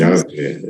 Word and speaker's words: Yahweh: This is why the word Yahweh or Jehovah, 그래서 Yahweh is probably the best pronunciation of that word.